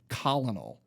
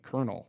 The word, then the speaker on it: colonel: And for the longest time growing up, I pronounced it colonel because, that's how it's spelled. Until someone was like, no, you actually say it like colonel.